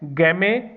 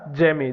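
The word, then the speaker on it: gemmae: और इसके अंदर एक स्पेशलाइज्ड स्ट्रक्चर आपको देखने को मिलेगी एसेक्सुअल रिप्रोडक्शन के लिए, जिसको बोलते हैं गैमे या जेमे, जैसे भी आप प्रोनाउंस करना चाहो, गैमे या जेमे, ये आपको देखने को मिलेंगी।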